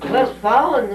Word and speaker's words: Westfalen: It's either Westfalen or Westphalia County or whatever it is that. Westfalen was the way that Dad used to pronounce it.